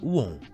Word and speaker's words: Om: gente pronuncia simbolicamente né a gente pronuncia uon certo mas aí simbolicamente no